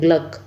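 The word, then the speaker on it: Glück: ठीक है, इसको ऐसे प्रोनाउंसिएट करते हैं, ग्लक।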